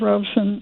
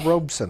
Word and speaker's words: Robeson: duberman a biographer of Robson I've heard him speak on book TV uh Pete Seager Harry bellante Arnold reran um they all uh use the what I consider the correct pronunciation two syllables all right Emily thank